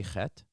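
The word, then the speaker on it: חֵית: Can you say chet?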